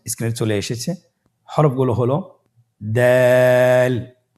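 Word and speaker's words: دال: দালের মাখরাজ কোন জায়গা থেকে? আপনারা স্ক্রিনে দেখুন। ছবিতে দেখা যাচ্ছে জিহ্বার আগা সামনের উপরের দুই দাঁতের গোড়ার সঙ্গে লাগিয়ে উচ্চারিত হয়।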